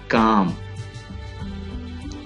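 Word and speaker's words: calm: एल ये alphabet L है और ये साइलेंट है। काम, काम सुकून, आराम, काम। ओके, यहाँ पे आपको एक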